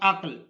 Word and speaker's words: عقل: زبر آ جائے گی تو اس کا صحیح تلفظ ہوگا عقل میں. لفظ عقل میں کاف ساکن ہے اور لفظ میں فے ساکن ہے.